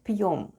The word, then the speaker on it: пьём: is Russian for "we" Let's spell the word ПЬЁМ /p'yom/. The first sound is /p/, then goes Soft Sign... and Soft Sign makes the proceeding letter sound soft so we have /p'/. Then goes Ё /yo/... and М /m/. And all together it's ПЬЁМ /p'yom/ ПЬЁМ /p'yom/, which is Russian for